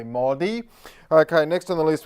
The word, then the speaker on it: Modi: had a humble upbringing but you don't say the O as in Grocers you don't say Narendra Modi you say Modi okay next on the